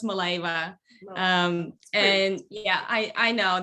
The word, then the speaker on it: Mileva: what i thought really my last name is pronounced maleva and yeah i i